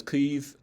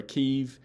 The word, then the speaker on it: Kyiv: uh you know basically if you pronounce it as cleve with a bard eye or keiv like they have transcribed in wikipedia i think any ukrainian speaker is probably going to be fine with it if you do that